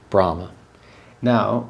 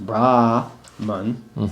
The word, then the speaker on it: Brahman: Now that one is pronounced slightly different because it's not Brahman, it's Brahman Brahman. Oh, Brahman. because Okay. there's no long A. Yeah. Okay, Brahman. It's not long and it's short.